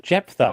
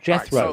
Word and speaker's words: Jephthah: Jephthah. Okay. It's not Jethro. Right, so however you pronounce his name. It's not Jethro.